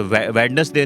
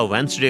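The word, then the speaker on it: Wednesday: होता है, ठीक है, वेडनेसडे नहीं होता, वेंसडे होता है।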